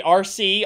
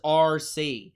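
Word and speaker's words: Arcee: like Innovative names though it's literally just the full like written out the word RC like an RC car the letters RC but they spell it a-r-c-e-e so let's talk a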